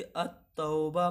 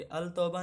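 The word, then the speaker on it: التوبة: हम लोग क्या पढ़ेंगे, अत-तौबा पढ़ेंगे, अल तौबा नहीं अत-तौबा पढ़ेंगे, यानी कि यहाँ पे जो लाम है वो साइलेंट है, इसलिए यहाँ पे अत-तौबा जो होगा वो आपका हर्फ शमसी होगा।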